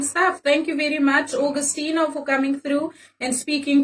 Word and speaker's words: Augustineo: Like you spell Augustine, but I add the O. I don't forget the O. O standing for the Owens. But it's Augustineo. Like the streets nickname me as.